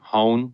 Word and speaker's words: Hoehn: his name is Charlie hone rhymes with phone the interview yeah I